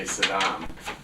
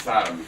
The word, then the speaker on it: Saddam: He didn't say Saddam. It's Sodom because that's a curse word. Oh, it is. Yeah, so he mistakenly always mispronounced his word.